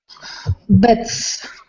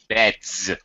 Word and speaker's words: beds: It makes it more convenient and easy if we pronounce that S as a Z sound. So, for example, Tatiana, singular is bed. Beds. Beds.